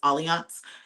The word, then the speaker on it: Allianz: My go-to for travel insurance is Allianz. It's spelled like Alliance, but it's Allianz, Allianz.